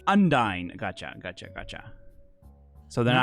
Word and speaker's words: Undine: girls yeah so unine wait how do you pronounce it undy n d i n e undy gotcha gotcha gotcha so they to be confused